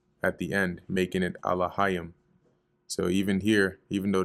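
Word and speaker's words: אלהים: The Ya and the Ma are joined at the end, making it Alahayim. So even here, even though they have the pronunciation off, you see they have Elohim, which is really Alahayim.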